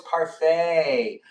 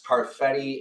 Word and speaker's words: parfait: Oh, it's parfait. The way you pronounce parfetti is amazing. Thanks for letting me know, but it's parfait.